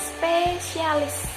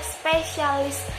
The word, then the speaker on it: spesialis: Kita bacanya spesialis. Salah, bukan spesialis ya teman-teman. Dalam KBBI itu salah, yang benar adalah spesialis, SPESIALIS tanpa huruf C.